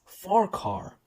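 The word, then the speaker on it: Farquhar: number 74 speaking of farquar I have been actually pronouncing and wrong this entire video because it is actually meant to be pronounced as far car the fat controller sells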